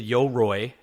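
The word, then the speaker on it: Yoroi: You get the Yo-Roi.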